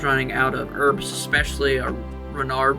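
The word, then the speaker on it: Ranarr: So, I went ahead and cut that off because, ironically enough, I was running out of herbs, especially Renard weeds, Rainar weeds as some people say.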